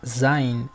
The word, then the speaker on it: Zain: La Zain, al igual que la Z inglesa, se pronuncia enunciando una S sibilante a la vez que se hace vibrar las cuerdas vocales, como cuando se imita el sonido de una abeja.